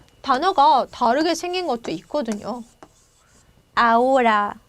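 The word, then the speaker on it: ahora: 다르게 생긴 것도 있거든요 아오라 지금 뭐 이런 뜻인데 이럴 때는 아채가 발음이 안 나기 때문에 그리고 영어하고 비슷하게 생긴 단어가 아니기 때문에 이렇게 아채를 쓸 때 빼먹을 수 있다라는 거죠 요거는 발음할 때는 발음 안 하게 하시면 되고요 그리고 쓸 때는 철자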